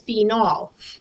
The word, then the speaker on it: phenol: Phen, like the phenyl branch, but this time we'll pronounce it phe. And then OL means it's an alcohol. We pronounce this phenol to distinguish it from phenyl, pronounced phen, O, when we have a branch.